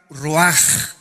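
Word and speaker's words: רוח: Esta palabra vientos es la palabra hebrea roach, que se pronuncia roaj. La ch en el hebreo se pronuncia como J.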